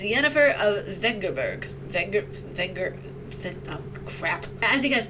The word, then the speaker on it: Yennefer of Vengerberg: Wait, is that how you pronounce her name? Is it Yennefer of Vengerberg? It's Yennefer of Vengerberg.